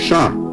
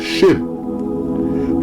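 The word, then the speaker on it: שין: In ancient Hebrew, shin is pronounced shan. In modern Hebrew and Aramaic is shin.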